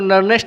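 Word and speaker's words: Nernst: आप इसको नर्नेस्ट इक्वेशन भी प्रोनाउंसिएशन कर सकते हो या नर्स्ट इक्वेशन भी प्रोनाउंसिएशन कर सकते हो, ठीक है।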